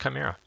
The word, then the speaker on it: Chimera: And it is pronounced Chimera.